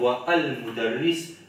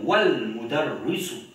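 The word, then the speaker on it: والمدرسُ: Nous pas pour dire wa al mudarris, mais nous pour dire wal mudarrisu.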